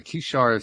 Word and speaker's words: Kishar: Tell us about the Kishar spiritual community. That's perfect pronunciation.